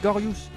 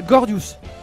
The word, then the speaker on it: Gordius: pas à t'inquiéter ah c'est Gorus Gorus oui parce que j'ai j'ai ah Gordius Gordius d'accord j'avais j'avais mal prononcé je suis totalement désolé